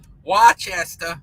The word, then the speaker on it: Worcester: Worcester. How do you say that in Massachusetts? Don't they call it just Worcester?